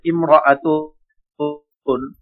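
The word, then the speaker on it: امرأة: এখন ইমরাআতুন এক শব্দের ব্যবহার দেখাচ্ছে, দেখেন। শুরুতে আলিফ মানে আলিফের উচ্চারণ লেখায় আসবে, পড়ায় আসবে না।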